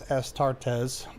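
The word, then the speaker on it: Astartes: Estartees is plural and is three syllables as estartes.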